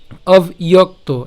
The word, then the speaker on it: অব্যক্ত: তো একটু খেয়াল করুন, অবিয়ক্ত, এই যে আমি বলেছিলাম এই যে এটা একসাথে উচ্চারণ করব, অবিয়ক্ত, একসাথে বললো অবিয়ক্ত।